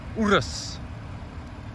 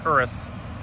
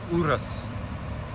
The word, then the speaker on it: Urus: And there it is, the 2020 Lamborghini Urus, which is actually how it's pronounced. I learned that because I've been pronouncing it wrong all this time. I was saying Urus, and Urus ain't right. It's Urus.